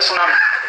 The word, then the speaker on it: tsunami: अंग्रेजी में एक शब्द है सुनामी, कैसे लिखते हैं? TSUNAMI। बोलते क्यों नहीं? टी सुनामी, टी सुनामी, टी सुनामी। कहते हैं जी टी साइलेंट है, तो लगाया क्यों?